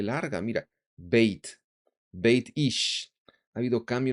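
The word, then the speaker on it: בית: Por eso cambia el acento bayit, ya no existe, es beit, beitish.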